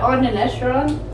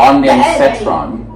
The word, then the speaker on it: ondansetron: I caught it on the Nestron. Wait, no, I'm still pronouncing the O. Ondansetron. Ondansetron sounds more right. That sounds like what my professor said.